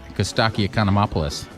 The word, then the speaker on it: Costaki Economopoulos: now joined by the biggest name in comedy cuz stocky economy opolis that's how you say it right that's how